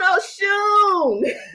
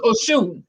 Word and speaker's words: Osun: Just think Oshun, and it's spelled the traditional way instead of Oshun. Yeah. The dots belong under the S. So Oshun, yeah.